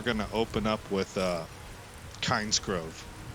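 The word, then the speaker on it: Kynesgrove: open up with uh kinds Grove I think it's actually pronounced Kenneth Grove I think that's how they say it in the game uh but yeah that'll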